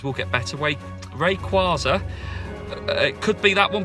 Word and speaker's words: Rayquaza: 3 Hoenn region legendary but also you got very Casa which requires er my pronunciations will get better way Rayquaza it could be that one but I doubt